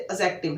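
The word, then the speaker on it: adjective: Basically ये लिखने में एडजेक्टिव है, इसके अगर प्रोनाउंसिएशन की बात करें तो इसकी जो बोली जाती है, इसकी बोली होती है एडजेक्टिव, डी इसके साइलेंट होता है।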